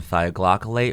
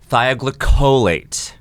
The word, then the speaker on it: thioglycolate: Elwood's pronouncing it ammonium thioglycolate when the pronunciation is ammonium thioglycolate.